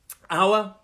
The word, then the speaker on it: hour: me so just because that top word as an h we don't pronounce it we say our and the other word